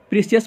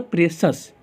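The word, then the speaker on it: precious: प्रीशियस मतलब होता है क्या पढ़ेंगे, प्रेशस। प्रीशियस मतलब नहीं पढ़ेंगे बल्कि प्रेशस पढ़ेंगे, क्या पढ़ेंगे, प्रेशस पढ़ेंगे, ठीक है ना।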